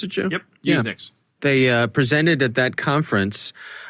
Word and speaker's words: USENIX: Is that how you pronounce it, Joe? Yep, USENIX.